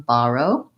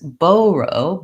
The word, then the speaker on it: borrow: that kind of sound do you want this one borrow or this one borrow this this baro baro baro I would say sounds a lot more British and a little bit odd to my ear so I wouldn't go for that one I just wanted